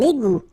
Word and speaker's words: égout: Un égout. Okay, little link between the two. Un égout. Final T not pronounced.